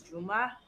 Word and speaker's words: Juma: There's the the way that my name is actually pronounced like in Arabic is Juma, but like nobody can say Juma. So, they were trying to spell it in a way that people pronounce. And in my opinion, J Mha is the worst way to spell it. Ju apostrophe muh is the correct English way to spell it in my opinion.